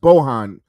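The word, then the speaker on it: Bojan: a big fan Bohan it's pronounced Bohan but you know what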